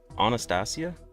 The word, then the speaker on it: Anastasia: I pronounce your name like the singer, but it's actually pronounced Anastasia? Stressing the C part, so it's Anastasia?